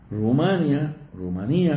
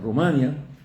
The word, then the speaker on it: Rumanía: Rumanía, como ustedes quieren, Rumanía o Rumania, como lo quiera pronunciar.